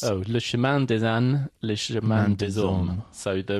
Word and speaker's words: Le Chemin des Ânes: How do you pronounce... Oh, Le Chemin des Ânes, Le Chemin des Hommes.